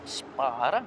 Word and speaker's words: Spåre: are here with fedick Spar but I think it's pronounced spora so maybe my first